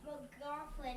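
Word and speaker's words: McLaughlin: drops down to 12 Scott mofin is how you say it Scott mofin yeah good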